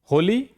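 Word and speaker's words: holy: होली एच ओ एल वाई। देखिए एच के ठीक बाद ओ है। फिर भी इसका उच्चारण क्या हो रहा है? ह जैसे होप होली हाउस।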